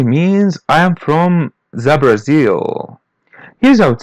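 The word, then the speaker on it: Brasil: It literally means I am from the Brazil. Here I would say Brazil. Listen and repeat. Brazil. Brazil. It almost has the same pronunciation, but we pronounce the letter L as W bar.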